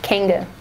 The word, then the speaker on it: Kanga: Kanga is spelled Kanga, short for, or you can say short for kangaroo. So it's not Kanga, not whatever else people come up with. It's Kanga Fitness, Kanga. Now, why is it short for kangaroo?